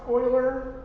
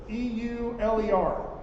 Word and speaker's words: Euler: So it's pronounced Euler, or that's what people keep telling me. It looks like Euler, E-U-L-E-R. So, Euler. So what does that mean?